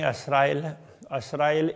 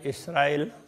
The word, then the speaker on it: इसराइल: बनी असराइल इसराइल, इस तरह से वो उच्चारण में थोड़ा थोड़ा फर्क है। कोई असराइल कहते हैं, कोई इसराइल कहते हैं।